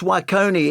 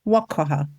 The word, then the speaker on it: Nwokeoha: But it's Nwokeoha is your surname, isn't it? Well, it's Nwokeoha. You've said it. I said it wrong.